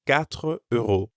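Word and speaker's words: quatre: probably try a different market four euros is katre and how about five five is sunk so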